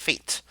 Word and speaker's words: F8: He, and like you and I both say, pronounced fate.